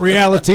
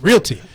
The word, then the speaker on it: realty: It's not reality, it's realty.